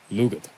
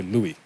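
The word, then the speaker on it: Lugaid: Louis or Lugi or lugit that g can be silent or it can be a soft G so I would just say Louis or lugit next macroth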